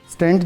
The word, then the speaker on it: stent: सारे लोग हम इसको स्टंट पढ़ते हैं, this is स्टंट नॉट स्टंट, हम इसको स्टेंट कहते हैं, STENT इसके जो प्रॉपर स्पेलिंग्स हैं।